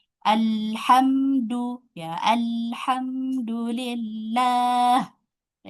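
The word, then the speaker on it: الحمد: Alhamdu ya, alhamdulillah. Ya, di sini hamzah wasalnya fathah. Jadi menjadi dibaca fathah.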